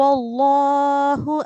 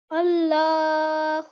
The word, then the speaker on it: الله: Just one thing here to beautify our recitation, that make sure that you pronounce the lam mushaddad thicker.